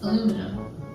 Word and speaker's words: aluminum: Aluminum. You spell this differently though, which is why I think you say it differently. We say aluminium, but we spell it